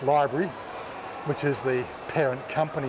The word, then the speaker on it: LBRY: as the lbry application which is you know pronounced library which is the parent